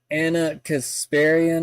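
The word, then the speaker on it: Ana Kasparian: Anna Kasparian, is that Yeah, that's how you say her name.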